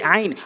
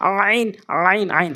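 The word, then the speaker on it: عين: এই আইন সবচেয়ে বেশি ভুল হয় আমাদের, হা এবং আইন, এটি হচ্ছে সেই আইন হলকের মাঝখান থেকে।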